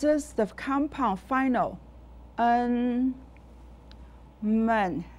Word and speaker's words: 们: Men has a neutral tone. I pronounce the syllable for you, mo, en, men, neutral tone, men.